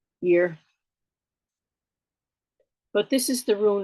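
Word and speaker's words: Yr: noris or Scandinavian speaker it's spelled y r and the Y sometimes sounds like y so I just go year but this is the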